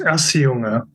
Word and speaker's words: Auseuga: It's pronounced Auseuga.